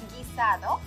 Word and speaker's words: guisado: Again, if you see the UI combination after a G or a Q, it does not have this sound. You only pronounce the I, for example, guisado, químico.